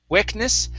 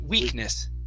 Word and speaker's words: weakness: uh weakness right here instead of Wick wickness it's we weakness winess yeah good uh good